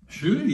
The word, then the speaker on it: Ncuti: No, and you told me that, and you'll have to pronounce his name, Ncuti. Ncuti, yeah, Ncuti Gatwa.